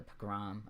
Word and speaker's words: pogrom: And he actually set it in a fictional setting of like I think 1800s town that faces a pogrom.